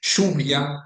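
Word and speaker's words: lluvia: we use it for words written with orthographic Y or orthographic double L. For example, plashia meaning beach, shria meaning rain. Those words are pronounced with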